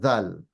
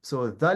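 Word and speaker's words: ذال: At least in Dhal, the English equivalent is when you say then in English, right? When you say then, or when you say that's Dhal. That's basically Dhal. So whenever you say the, or you say then, right? That's how you pronounce Dhal. Exact same way.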